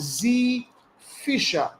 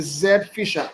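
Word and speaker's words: Zphisher: to is called Z Z Fisher okay it's spelled like this Z Fisher Okay Zed Fisher and the Fisher is p i s h e r so right now we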